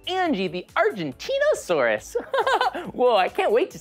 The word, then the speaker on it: Argentinosaurus: I have to break it up to say it right. Argentinosaurus. That's me. Whoa, that's a really big name. Let's practice saying it together again. Ready? Argentinosaurus.